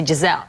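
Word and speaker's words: Gisele: been mispronouncing her name we say I in the end of the L here you eat the I you know you only say Jazelle okay this is the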